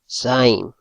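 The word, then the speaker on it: ז: La siguiente OT es la Zain. Ese es su carácter hebreo. Zain. Para pronunciar esta OT se pronuncia como el sonido de la abeja.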